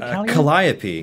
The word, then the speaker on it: Calliope: what five Whizzer account is it Calliope is that how you pronounce it Calliope yeah my appeal yeah yeah there's a and so I was I was corrected on that by Lauren urban oh the first time I messed it up on stream because it's the name of an actual instrument so uh so there is like it is supposed to be pronounced a specific way which I didn't up